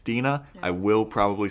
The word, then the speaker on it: Dena: I knew I had a different pronunciation in my head, but now I got it. It's Dena.